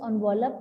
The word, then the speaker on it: envelope: one of the envelope its pronunciation is on wallop don't speak e it is o okay so this was